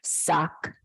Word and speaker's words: SCCH: Sullivan County Community Hospital scch pronounced suck what began as 120